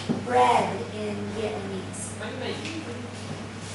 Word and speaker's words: Bánh mì: Bánh mì. Bánh mì. So, and how do you spell it?